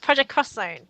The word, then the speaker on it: Project X Zone: I've been playing um project cross Zone that's one that I was playing for a while cross Zone yeah so it's project it's written as project xzone but you pronounce it project cross zone so it's that um